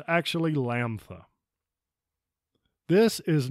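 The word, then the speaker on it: Λάμδα: different parts of the country but it's actually Lampa this is not moo this is me same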